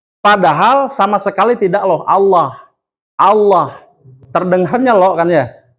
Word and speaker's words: Allah: Pada saat lam ini, pada lafaz Allah dibaca tidak Allah, Pak. Tidak o, tapi lah. Terdengarnya, nih kalau saya tutup mulut, terdengarnya loh. Allah. Padahal sama sekali tidak loh. Allah.